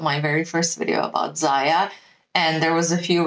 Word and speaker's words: Zyia: me too that was exactly how I was pronouncing I was saying Zia throughout my very first video about Zaya and there was a few reps in the